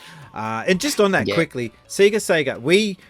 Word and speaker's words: Sega: So when it became a Japanese company, the letters SE and GA do not get pronounced that way in Japan, so they converted it over to Sega.